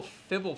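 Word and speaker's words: Fblthp: in it it's been really like known as fibble thip fibble fibble FIP yeah fibble yeah and it's been so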